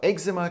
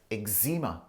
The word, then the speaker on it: eczema: pollen induced eczema so eczema can also be pronounced as eczema and it's actually a